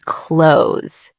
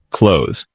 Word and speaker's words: clothes: And the things we put on are called clothes. Say it with us, guys. Clothes. Notice that weird th sound at the end.